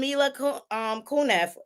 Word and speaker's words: Mila Kunis: What's up with Ashton Kutcher and Mila Kunis?